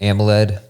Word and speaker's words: AMOLED: AMOLED. There it is. I couldn't figure out how to say it because I'm like OLED. Yeah. AMOLED. That makes sense.